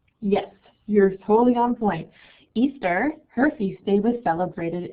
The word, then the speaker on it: Ishtar: the same right here called Easter that's how it's actually pronounced I could just guess